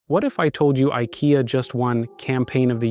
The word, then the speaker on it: IKEA: What if I told you IKEA just won Campaign of the Year?